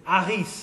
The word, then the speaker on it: Harris: My mother was Opel, but my father was Harris, so I got Harris. Which, of course, in French you don't pronounce the H in French, so it's Harris en français.